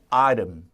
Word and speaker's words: item: item. 그죠? 아이템인데 역시 T 발음을 부드럽게 사포로 이렇게 사포질. 그죠? 이렇게 사포니는 아닙니다. 그래서 우리가 item.